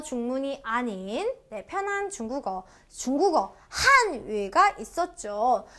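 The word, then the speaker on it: 韩语: 세게 발음해 주시면 되고요 얘는요 우리 올라가요 한위 어 저는 이거를 이렇게 설명드릴게요 어 우리는 점점 발전하고 있죠 발전 속도가 빠르죠 그래서 올라간다 이성이다라고 기억하시면 뿌듯하겠죠 대한민국네 한위 다시 한위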